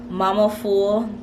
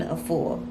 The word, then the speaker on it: Afua: I said Mama Full, forgive me, it is not Mama Full, forgive me please, it is not Mama Full, but it is Queen Afua.